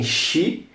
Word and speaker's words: she: Seguindo aqui tem Xi, é um s, H e um E. Não sei se dá para ler muito bem. E você fala Xi, como se fosse mesmo o começo de um X.